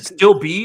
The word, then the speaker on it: Stilb: It's Nick, but is it still B or is it Stilb? Or like Stilb. Okay. Stilb, yeah, Nick Stilb.